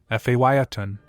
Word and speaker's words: Phaeton: 1929 Ford model Phaeton. Price, $25,000. Mileage, 17,847 miles. Location, Fresno, California. The remarkable 1929 Ford model Phaeton, pronounced Phaeton, represents a rare opportunity to own a genuine piece of American hot rod history.